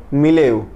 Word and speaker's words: milieu: सो for today we have a word, it is called मिलेव। मिले इसमें ई यू हम लोग प्रोनाउंसिएट नहीं करेंगे।